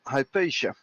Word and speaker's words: Hypatia: We have some people redoing all the missions in preparation for Hypatia, if I remember the pronunciation correctly.